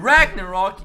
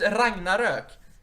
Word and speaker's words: Ragnarök: not Ragnarok. It's Ragnarök. At least get those right. People ignore the two dots above the O. They think it's just like a fucking.